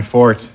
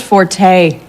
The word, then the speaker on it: forte: nothing it's just that it's not Fort it's pronounced Forte oh you know actually that's a common misconception you know Forte is a musical term meaning loud from the Italian Fort is derived from the French really you couldn't look